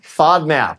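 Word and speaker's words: FODMAP: fad mop f is that right F diet fod map yeah fod map fod fod map diet right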